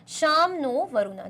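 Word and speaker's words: शं नो वरुणः: motif contain करता है साम नो वरुणा प्रोनाउंस शाम नो वरुणा जिसको हम प्रोनाउंस करते हैं क्या बोल के भाई शाम नो वरुणा व्हिच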